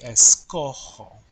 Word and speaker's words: escojo: So, for example, with the verb escoger, if I were to change that er to follow the normal pattern and have an o, it would be s, it would be like that, but how is that pronounced? Escogo, escogo, right? And that changes the pronunciation of the original G. So Spanish is very consistent with pronunciation. That's why in the yo form only, that G will change to a J. So it would be escojo.